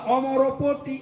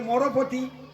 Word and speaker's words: অমরপতি: কমলাস্ মধুপ রমাশম্ভু ব্রহ্মা অমরপতি অমরপতি গণেশারচিত পদ অধিকাংশ ভক্ত তারা বলে মরপতি রমাশম্ভু ব্রহ্মা মরপতি কি অধিকাংশ বলে মরপতি আর শুদ্ধ ভক্তর উচ্চারণ করে অমরপতি এখন দক্ষিণ ভারতে একটা